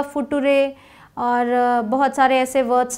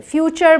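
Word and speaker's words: future: जोग भी सुना होगा फुटूरेक्स लोग बनाते हैं बट फ्यूचर बोलते हैं ना एफ यू टी यू आर ई फूटूरे नहीं बोलेंगे फ्यूचर बोलेंगे तो टी यू आर ई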